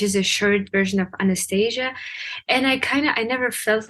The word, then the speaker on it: Anastasia: Well, the way you pronounce it in Russian, it's Anastasia, but in American, it's like Anastasia.